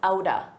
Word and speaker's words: out of: So you take a pause between them and notice out of a native speaker will pronounce that as aouda aouda. This is a reduction Aouda, out of sight, out of mind.